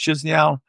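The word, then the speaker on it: Chișinău: I go into, I believe it's pronounced Chisinau.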